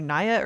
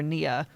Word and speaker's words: Nia: So it's either Nia or Nia. I've been saying Nia DaCosta. It's Nia. I would have said Nia as two. I think. That's two. Okay. So Nia DaCosta, this is her like second or third movie.